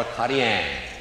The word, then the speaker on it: Acadien: Now, in French, you pronounce the word Acadian, Acadian, or Acadien, depending on what kind of Acadian or Acadien you may be.